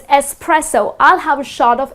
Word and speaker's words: espresso: the coffee shot right many people tend to say it as expresso but it's not expresso it doesn't have X